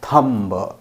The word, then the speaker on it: thumb: This is thumb, not thumb. B is silent, thumb.